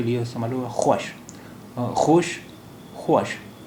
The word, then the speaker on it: خوش: ये डब्ल्यू वाव के लिए इस्तेमाल हुआ, ख्वाश, खोश, ख्वाश। अब ये वाव नहीं बोला जाता है, इसलिए ये लफ्ज़ है खुश, खुश।